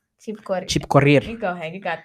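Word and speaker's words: Chepkorir: Lynette Chipkore. Chipkorir.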